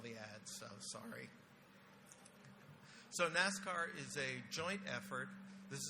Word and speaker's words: NIPRNet/SIPRNET: As he said, I'm going to be talking about the NIPRNet, SIPRNET Cybersecurity Architecture Review today, which we pronounce Nascar. It's just a way to pronounce it.